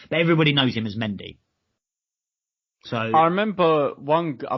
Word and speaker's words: Mendy: this chap when the commentators kept referring to Mendy as mondi and was just oh Jesus Christ you are